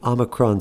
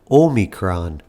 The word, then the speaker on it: omicron: might also hear pronounced omicron if you go back to the greek origin of the word the textbook way to pronounce it is omicron but you know it